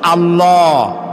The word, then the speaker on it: আল্লাহ: আল্লাহ নয় কিন্তু আল্লাহ হচ্ছে অশুদ্ধ শুদ্ধ হচ্ছে আল্লাহ বলার সময় মুখটা গোল হয়ে যাবে বলেন তো সবাই উচ্চারণ করেন আল্লাহ আবার বলেন আল্লাহ আবার বলেন